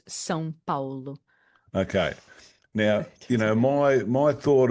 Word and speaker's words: São Paulo: Sao Paulo, or is that how we say it? Sao Paulo, or is it how's it pronounced? Well, if you want to get like very specific, it's São Paulo.